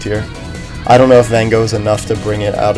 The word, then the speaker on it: Van Gogh: gogh then as i learned it was correctly pronounced uh you have van gogh and i really as much as i would